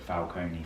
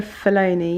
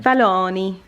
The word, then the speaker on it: Fellaini: i mean i was pronouncing it falcone for a long time but it's no see there is no scene it's luca fellaini yeah yeah fellaini but it's nice joe